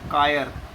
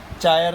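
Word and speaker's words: chiral: Is called as CHER, कायर। चायर नहीं, कायर। Which subject we are learning? Chemistry नहीं ना, केमिस्ट्री कर रहे ना। CH is termed as, CH is pronounced as क। तो इट इज कायर।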